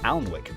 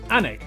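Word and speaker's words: Alnwick: city called gotham okay before finishing up in alanwick anak which is near newcastle but that's just not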